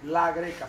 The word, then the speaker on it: La Grecca: Que mi apellido se pronuncia así, la greca, separado y con doble C.